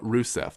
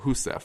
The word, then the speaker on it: Rousseff: sources will call her Rousseff, but I know in Portuguese an R at the beginning of a word is actually pronounced like an H, so it's Dilma Rousseff.